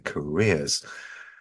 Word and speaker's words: careers: Now, when you have a double E at the end of an English word, it is almost always where the stress is.